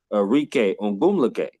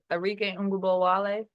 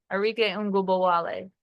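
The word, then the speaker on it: Arike Ogunbowale: Would you rather have Enrique Ongumlake, if I said her name right, Ongumlake, or would you rather have Aja Wilson? You said Arike Ngubowale.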